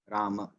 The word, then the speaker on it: Rama: The Ram itself has 4 syllables. Ra, A, Ma, A. Rama.